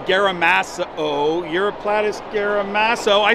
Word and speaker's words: Uroplatus: that was just described this year it's a europlus gamas uroplatus gaso I said it right yeah yeah yeah